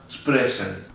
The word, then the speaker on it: sprechen: Lo primero es ST y SP, que al estar al principio de la palabra se pronuncian como si fuesen una SSH. O sea, se pronunciaría ST o SP.